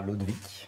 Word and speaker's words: Lodewijk: jeune autrice qui s'appelle Clara Lodewijk, si je prononce bien. Exactement, Clara Lodewijk, voilà.